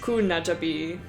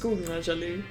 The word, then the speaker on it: Kunajali: It's anglicized as Kunajabi because we don't have the B sound, but that's just how everyone else in the solar system wants to pronounce it. So, but it's in the Dushali languages, it's pronounced Kunajali. And the Gakurad, those fuckers.